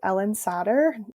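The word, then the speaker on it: Ellyn Satter: great resource for this is a woman called Ellen sadder it's spelled e l l y n s a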